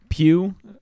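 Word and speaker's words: Pugh: general plot you got Florence pew pew the gh is silent who we know from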